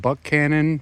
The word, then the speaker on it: Buchanan: I believe the town is pronounced Buck Cannon. It looks like Buchanan, but I think it's pronounced Buck Cannon. I could be wrong.